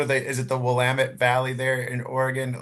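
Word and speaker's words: Willamette Valley: Is it the Wamut Valley there in Oregon? Like uh Yes. Great pronunciation.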